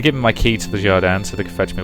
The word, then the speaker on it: Jardin: Or is that meant to be pronounced Guardian? Yeah, screw it. I'm going to keep pronouncing it as Jardin because I happen to think that sounds better.